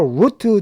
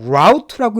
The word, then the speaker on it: route: 자, on your route 되고 on your route라고 읽어도 됩니다. 이 route는요, route 다 가능해요.